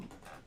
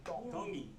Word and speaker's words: Tongi: My name is Iam Tongi, and I'm Iam from Tongi. Kahuku, Hawaii. Iam Tongi. Tongi. You pronounce Tongi. it easy, like a D in the Tongi cultures.